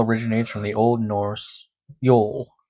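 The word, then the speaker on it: jól: The term Yule originates from the Old Norse Yule, j o l, pronounced Yule, y u o l, which is documented as one of the oldest winter solstice festivals in northern Europe.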